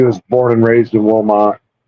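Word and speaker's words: Wilmot: So knew she was born and raised in Wilmont and it's spelled W I L M O T.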